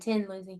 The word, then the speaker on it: Thin Lizzy: during that podcast that in Ireland they would pronounce it Tin Lizzy yeah well that's a pronunciation based on their their I thought thought there was a Thin Lizzy I did not know there was a Thin Lizzy so they're the same people I just had heard the Irish pronunciation you heard an Irishman